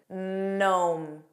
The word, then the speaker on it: gnome: There are three words that start with a GN spelling that are somewhat common in English. Do you know what those are? Naw. Notice it begins on an N.